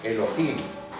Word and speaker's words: Elohim: Elohim se acentúa en la última.